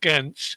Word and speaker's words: Ghent: And a really good example was also at the World Championships, I think it's pronounced Ghent, in Belgium, where they included the adaptive athletes on their version of the 100-meter course with the various obstacles.